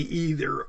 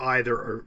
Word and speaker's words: either: But for this one, basically either or either, they're both correct.